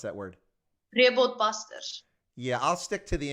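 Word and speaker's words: Rehoboth Basters: I'm going to mispronounce it, I'm going to pronounce it in English, but the Rehoboth Busters. But actually, how do you actually correctly pronounce that word? Rehoboth Busters.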